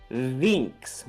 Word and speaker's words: Binks: actually talks about how in Japanese Binks would be pronounced vinx with a V and vinx means Bird